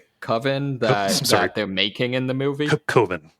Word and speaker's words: Coven: Coven. Yeah, it's pronounced Coven.